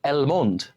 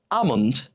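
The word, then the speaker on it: almond: আমরা বলি অ্যালমন্ড, কিন্তু এর উচ্চারণ কি হবে? আমন্ড, আমন্ড।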